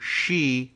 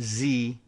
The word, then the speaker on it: Xi: of China, I guess closer in pronunciation to Xi rather than Z, Xi Jinping.